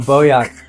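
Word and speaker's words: Bojak: It's Bojack, but you don't pronounce it. Oh, Boyak.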